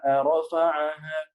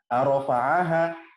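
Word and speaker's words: رفعها: Was-samaa'a rafa'aha. Nah, di sini ada yang salah ketika saya seorang waktu itu. Was-samaa'a rafa'aha. Jadi kalau a di kata as-sama, a kita masukkan ke rafa'aha, itu jadi beda artinya. A-rafa'aha, jadi kalimat pertanyaan gitu.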